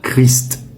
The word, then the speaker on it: Christ: Quand il est seul, la prononciation recommandée est Christ, avec le S et le T prononcés.